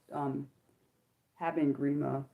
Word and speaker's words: Haben Girma: This is the question that these are all questions that a interview asked Haben Girma.